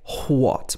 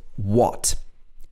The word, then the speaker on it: what: of the time an h is silent if it comes after a w for example who when what we don't say what most of the time it's just what where why and which